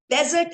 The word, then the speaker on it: desert: Okay, there's a difference between desert and dessert. So when it is sweet, it is dessert. A desert is Registan. So you have to distinguish between the two in your pronunciation, desert or dessert.